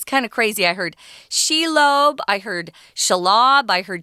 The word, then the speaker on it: Shelob: I heard Shelob, I heard Shelob, I heard Shelob. I heard lots of different pronunciations of this particular evil creature.